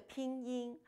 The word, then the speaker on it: pinyin: a case in point it is pronounced the pinging not payin end in because I n in Chinese is pronounced in now please repeat after